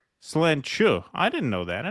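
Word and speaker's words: sláinte: Ravid Laz says, fellas, the Gaelic word slante is pronounced slenchu. I didn't know that. I never knew that. I always thought it was slante.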